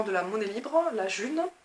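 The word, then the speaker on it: Ğ1: Et je commence à m'investir, à aller à des événements de la monnaie libre, la June, ça s'écrit G1 mais ça se prononce June.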